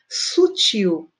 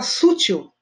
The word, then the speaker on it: sutil: tudo bem olha embaixo o tio uma coisa delicada discreta né sutil tá correto vai ter muita gente que fala sutil não pode a gente não tem nada a ver tá com dor olha com